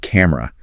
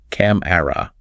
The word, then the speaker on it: camera: Many non-native speakers really try to pronounce that middle vowel, making it sound like 3 distinct syllables. Camera. I can hear it. But in rapid, natural speech, we elide that middle vowel completely. We reduce it to 2 syllables.